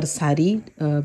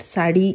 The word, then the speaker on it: saree: so i may pronounce sadi or sarri both are correct sadi is the real pronunciation in odiya but in english it is spelled sari s-a-r-e-e so many people